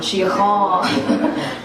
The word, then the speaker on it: síocháin: And it takes that ch before you get to the on, síocháin.